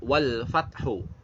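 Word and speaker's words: والفتح: Nah, ini yang pertama ada kata wal fathu. Wal fathu, maka dibacanya di sini adalah ketika wakaf adalah wal fath. Wal fath. Jadi ada waw, ada lam, ada fata, dan haknya itu harus jelas. Wal fath.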